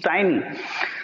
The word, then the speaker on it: tiny: हैं tiny small tiny, it's not teeny, guys. Many, teachers even pronounce it teeny, not teeny, it's tiny.